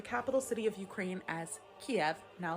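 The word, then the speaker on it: Kyiv: Well, Kiev is actually the Russian pronunciation of the name of the Ukrainian capital city, while Kiev is the Ukrainian pronunciation.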